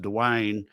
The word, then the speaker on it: Dwyane: now well i it's it's d-w-y-a-n-e so it's like the which i'm sorry don't make no sense but it's pronounced dewayne uh and i think